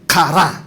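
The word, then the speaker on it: קָרָא: De hecho, la palabra hebrea que se traduce por clamar se pronuncia kará. A ver, días, de kará. Tiene que como es gutural, es kará, que literalmente significa, no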